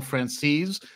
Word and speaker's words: Franzese: joined by the one and the only Michael francese am I pronouncing that correctly you are there you got